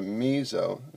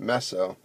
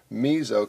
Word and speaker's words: meso: This compound is called a meso, pronounced more with a Z, not meso, meso compound.